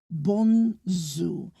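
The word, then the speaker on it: bonzour: And so they will say um good morning as bonju but it is spelled not with a J. It's spelled with a Z. Bonu. Bonzu.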